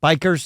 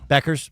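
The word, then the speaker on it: Bueckers: Paige Bikers. Is it Bikers? Is that how it's pronounced? Yeah, how's that pronounced? Beckers.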